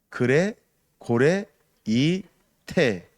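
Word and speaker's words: γρηγορεῖτε: 이 말이 헬라어로는 그레 고레 이테입니다. 여러분들이 알아듣기 쉽게 발음을 하는 겁니다. 그레 고레 이테, 이것이 깨어 있으라 이런 말입니다.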